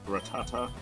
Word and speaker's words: Rattata: Alright, you got a Rattata at 15. Shit, my Rachungus is the same level as you. Sir, my name is pronounced Ratata.